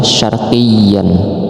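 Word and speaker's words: شَرْقِيًّا: Bacanya samar-samar juga, jadi bacanya makanan syarqiyya. Nah, kemudian ini sama seperti yang lain, seperti ini, seperti ini. Ini adalah mad iwad. Mad iwad itu tulisannya kan syarqiyyan, tapi kita bacanya syarqiyya karena kita wakafkan.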